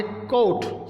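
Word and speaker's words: caught: Wait, WEIGHT, wait, इसमें भी GH silent है। आगे कोट, CAUGST, इसके अंदर भी GH साइलेंट है।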